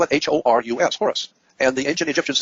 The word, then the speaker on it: Horus: You spell it H-O-R-U-S, Horus.